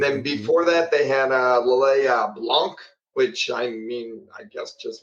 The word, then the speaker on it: Lillet: Lillet.